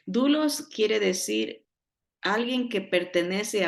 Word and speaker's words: doulos: l o s doulos pero se pronuncia dulos dulos quiere decir alguien que